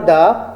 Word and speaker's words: the: দি অর দ্য, THE, দি। When we ইউজ দি or when we call this the students, ভয়ের পূর্বে যদি আমরা THE ব্যবহার করি ওটাকে আমরা বলবো দি, এবং যদি কনসোনেন্টের পূর্বে ব্যবহার করি তাহলে বলবো দা।